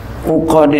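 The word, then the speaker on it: عُقَد: Anahu yu'fa an batini uqadi sya'ri. Ya. Uqadi, ya, baca, ini uqad bacanya jangan akun, uqlan. Karena jama, dia ini bentuk jama' daripada uqadatun.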